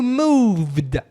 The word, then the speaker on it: moved: No passado, se você colocar esse D no final, esse ED, when you moved, a pronúncia, moved.